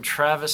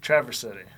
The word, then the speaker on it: Traverse City: all the way from Travis City Michigan thanks for coming up Traverse City Traverse City drivers Traverse wouldn't dare to say it wrong Travis nothing I said okay traverse t Rav ers second of it